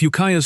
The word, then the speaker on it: Ukiah: If Ukiah's story sounds familiar, it should. It rhymes with Eureka.